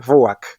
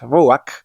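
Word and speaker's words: רוח: Cuando la letra Het está al final de la palabra, igualmente se pronuncia como una J, pero el sonido vocal suele estar antes, haciendo un sonido algo así como ak.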